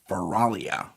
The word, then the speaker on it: Feralia: But um they had a celebration called Feralia.